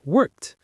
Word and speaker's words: worked: Now, what about a word like work? It ends in a K sound, so we use the T sound, worked. One syllable, worked.